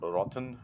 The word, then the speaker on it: Rothen: related uh Story by Henrik rothen um or rotten if it's German pronunciation uh it's two days